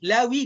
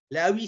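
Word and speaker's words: لاوي: Laoui Lévi. Laoui c'est Lévi. Les français on prononce Lévi. Mais c'est laoui hein.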